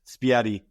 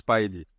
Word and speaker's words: Spiady: Everyone to talk to me about my name, and normally it's Spidey, but Spidey. Okay. yeah, it's Spidey.